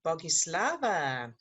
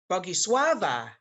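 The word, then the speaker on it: Bogusława: Okay, Bogislava. Sorry, Bogiswava. Ha. Yes. Steve taught me to say it properly.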